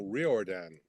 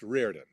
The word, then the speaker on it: Riordan: It's Riordan. A lot of people go Riordan, but it's Riordan. But yeah, with a unique